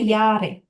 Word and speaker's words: Jahre: Jahre, Ich, Jahre, উচ্চারণটা হবে Jahre, ইয়ারে, ইয়ারে, ja, ja, হুম, Jahre.